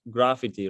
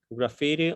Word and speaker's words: graffiti: graffiti i know we we sometimes we pronounce like gravity right but in this case we have to press graffiti graffiti on walls and buildings